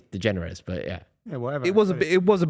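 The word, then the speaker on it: DeGeneres: jerz with George Bush de jerz is that what her name is you think so yeah I mean pronounced slightly different I think it's degenerous but yeah yeah whatever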